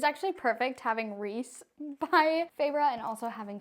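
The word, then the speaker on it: Rhys: the book okay so this is Rees I'll go ahead and put the full name for y'all reand yes that is how you say it I would know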